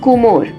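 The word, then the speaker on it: কুমোর: The name itself comes from Kumor, Bengali pronunciation of Kumar, that is Potter.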